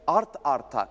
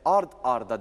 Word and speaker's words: art arda: gelen seslerin bağlanarak söylenmesi Tıpkı Art arta değil de art arda dememiz gibi art arda yazılır art arda okunur harf alayım Buyurun u